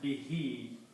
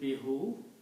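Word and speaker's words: بِهِ: When you write them together, you pronounce as bihi. Instead of pronouncing bihu, we pronounce bihi.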